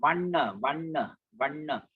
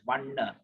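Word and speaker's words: vaṇṇa: So N with the dot below, as in Vanna. Put your tongue at the palate. Vanna, no Vanna. If you want to be more accurate, but if chanting purposes, sometimes you just say Vanna also, people will not notice that. It is okay, but provided you pause at double N.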